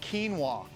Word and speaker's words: quinoa: quinoa, actually it's pronounced quinoa.